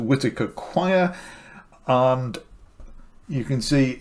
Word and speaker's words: Whitacre: is the Eric whitacres I think we pronounce it Whitaker choir and you can